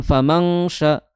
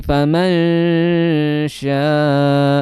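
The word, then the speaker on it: فمن شاء: Jadi famanyaakaro bukan famangya tapi famansya.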